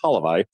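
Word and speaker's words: Hlavaj: Halivi, my Slovakian friends here have been correcting me on that. It's Halivi.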